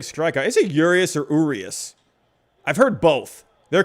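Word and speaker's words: Urías: heard yurius at one point i guess it's urius right have i been saying yurious oops i thought it was yurious i swear i've heard it pronounced that way urius julio urius yeah thomas marshall i feel like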